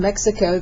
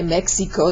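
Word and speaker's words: México: If you have an X, somebody says they're from Mexico, they don't say soy de Mexico, they say soy de Mexico, so it sounds like an H.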